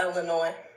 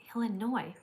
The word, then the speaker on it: Illinois: Uh Illinois. Illinois. Okay. How come they call it Illinois and then there's an S at the end? Why don't they call it Illinois? Uh because the S is silent.